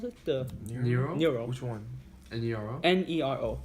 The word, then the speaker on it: Nero: Is that how you pronounce it? The Nero?